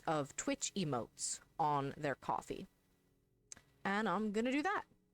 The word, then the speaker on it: Ko-fi: let's use that so there's a website that i suppose is pronounced coffee but it's a website